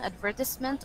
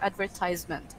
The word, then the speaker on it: advertisement: There are two pronunciations for this one, advertisement or advertisement.